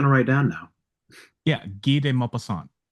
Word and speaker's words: Guy de Maupassant: Yeah, Guy de Maupassant. So Guy, it's spelled like Guy, Guy, and then DE, and then space, and then Maupassant, Maupassant.